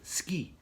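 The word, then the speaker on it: 好き: So it's called ski. That's suki, ski. So whenever there's a Japanese love story, it's ski desu. That's how Japanese pronounce it, love.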